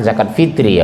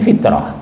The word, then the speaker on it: zakat fitri: Zakat fitrah orang Indonesia yang benar zakat fitri ya, Bu, bukan fitrah, fitri.